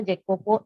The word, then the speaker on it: Jacopo: Now, Nicola and Jacopo, sometimes Jacopo is pronounced as Ecopo also. In many countries, or if you read the summary of this story, you will listen that the name of the Jacopo is pronounced as Ecopo also. But as we are Indians, we will read as a Jacopo.